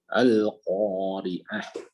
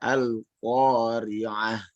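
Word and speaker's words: القارعة: Namun ada pensukunan H karena dikarenakan dia sukun ya. Nah, di sini jangan terlalu panjang, ya jangan terlalu cepat. Bacanya al-qari'ah. Dan satu lagi, makhrajnya harus di H yang besar, bukan seperti ar-Rahman, tapi seperti bismillahi. Bismillahi ya. Jadi al-qari'ah, mal-qari'ah, seperti itu.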